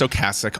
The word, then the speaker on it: Ocasek: Cars frontman Ric Ocasek, and yes, it is pronounced Ocasek, on the set of the music video for the band's 1984 hit Drive.